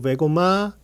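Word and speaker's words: Wegoma: 독일식 발음으로는 웨고마입니다. 웰컴 세린 투 웨고마 트레이닝 센터 해가지고 제가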